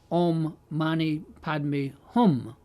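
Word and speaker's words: om mani padme hum: and compassion now there Tibetans pronounce it ommani payy but the real Sanskrit is something like om Mani padmi hum so Somewhere over the years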